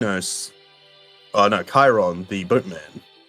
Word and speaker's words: Chiron: No, no, Chiron, the boatman. Pronounced Karen, like the other bad things, but we'll continue.